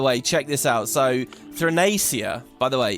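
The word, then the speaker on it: Theia: people by teaching you the fact that I've been saying it wrong and then so it's Thia and you know I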